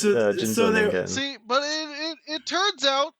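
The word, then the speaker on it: 人造人間: But I guess it's pronounced Jinzoningen. Yeah, it's Jinzoningen.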